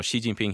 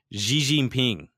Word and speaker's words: Xi Jinping: said The Tonight Show it's how he pronounces Xi Jinping okay and if you guys know she Jinping he is the president of China and he pronounced to the G gene ping if I'm not mistaken and I don't think